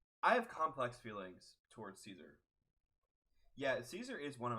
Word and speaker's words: Caesar: your character and you know I love cats Caesar Caesar flickerman oh is that how you say it's